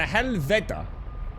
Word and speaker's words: helvede: So helvede, yeah? The D should be pronounced as the, as in mother. So helveda should be pronounced helveda.